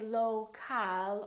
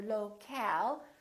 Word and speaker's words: local: here, low, low, but we don't say local or locale. We reduce the second syllable and it becomes the local, local. So you see OL and AL sound exactly the same because they're both reduced syllables.